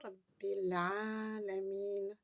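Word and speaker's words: رب العالمين: Alhamdulillahi Rabbil alamin. Faites bien la liaison ici. Vous avez Rabbi, Al-A. Rabbi, Al-A. Alors, on dit, au lieu de dire bi, elle, on dira bil. Rabbil alamin.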